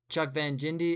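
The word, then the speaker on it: Jindabyne: Um, Chuck Van Jindy is the correct way to say it.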